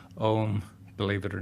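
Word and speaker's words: ogham: you think it's pronounced ogum it's the H tends to delete the previous consonant so you're left with OAM which is pronounced own believe it or not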